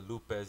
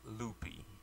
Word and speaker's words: Lupe: So for those of you who don't know, Lupe is spelled L-U-P-E, and it's pronounced Lupe. I don't understand why some people always want to put a Y at the end of my name and call me Loopy.